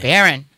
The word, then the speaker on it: Baron: And I was Baron trying to spell it Byron. Yeah, no, it's not Byron.